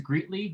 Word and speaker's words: Greetly: And you pronounce it as Greetly, is that correctly?